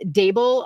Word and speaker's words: Dable: I have a blog, and it's Dable Around the Table. And so Dable rhymes with table.